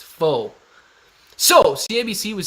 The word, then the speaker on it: faux: That is how you pronounce P-H-O. Think about it, guys. Not pho. It's faux.